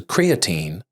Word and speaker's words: creatine: And it turns out that there's an American pronunciation, which is creatine, which would be how I would say it.